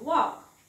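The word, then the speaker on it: walk: आधी एल आहे मग इथे वॉक वाचायचे वॉक एल वाचायचा नाही नेक्स्ट आहे टॉक टॉप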